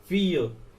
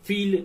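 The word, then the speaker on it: fille: मतलब लड़का होता है, फीय इसे बोलते हैं फीय, डबल एल हम नहीं बोलते, ऐसे हम फील नहीं बोलेंगे, इसे हम बोलेंगे फीय, एफ I double L silent रह जाएगा, ई को बोला जाएगा अ या फिर य, ऐसे सुनने में आएगा फीय।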